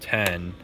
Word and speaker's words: X: but I'm pretty sure the iPhone X is supposed to be called ten and it's just spelled with a Roman numeral which people don't really